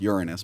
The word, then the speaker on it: Uranus: lifetime of trouble well the smartest person in the world should know it's pronounced Uranus but whatever I guess